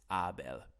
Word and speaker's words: Abel: Hey guys, Abel speaking here. Well, actually, if you want to be precise with the pronunciation of my name, it's Abel.